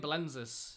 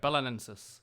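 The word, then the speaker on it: Belenenses: I keep saying Belenzis, and it's wrong, right? Someone left the stream because I think I disrespected him. He shouted at me with his caps locks and everything. Just say bolognese. Belenensis. Belenensis. Is that right? I'm awful at pronouncing stuff. Okay, perfect. Belenensis.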